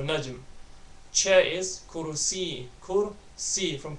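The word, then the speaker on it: نجم: Again, you gotta make sure you get that meme sound at the end of it. So the light meme sound at the end of it, so najm.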